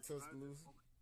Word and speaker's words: Tuscaloosa: Now, you mentioned that you were from Tuscaloosa. Is that how we say that? Yeah, you saying it right, Tuscaloosa.